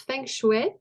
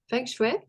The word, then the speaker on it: Feng Shui: Je me suis rendu compte en t'entendant que tu prononces Feng Shui. Feng Shui. Alors, logiquement, c'est comme F-O-U-N-G, S-H-O-U-E accent aigu.